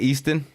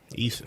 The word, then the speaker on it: Eason: How you say it? Easton? Eason. Fuck you. You know how to say my fucking name.